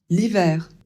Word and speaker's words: l'hiver: Donc ça donne automne l'hiver. Ici, on ne prononce pas le H.